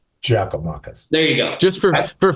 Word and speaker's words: Giakoumakis: And Gigi, his name is pronounced Giakoumakis. Giakoumakis.